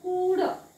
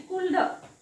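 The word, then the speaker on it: could: वाचायचा का नाही म्हणून इथे वाचायचं कुड फक्त ह्याला वाचन करताना काय वाचावं लागतं कुड एल वाचायचं नाही कुल्ड कुल्ड कुल्ड ल वाचायचा नाही तसंच इथे वुड हा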